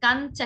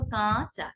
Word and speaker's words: কাঁচা: কাঁচা, কাঞ্চা কিন্তু আমরা বলবো না, কি বলবো? কাঁচা। খানিকটা কম্পিত হবে, কম্পিত হয়ে নাকের মধ্যে একটু বাড়ি খেয়ে উচ্চারিত হবে কাঁচা।